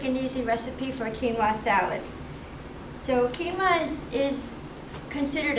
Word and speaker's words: quinoa: and some of you may not have it's pronounced quinoa but it's spelled q-u-i-n-o-a like quinoa but it's quinoa so today I'm going to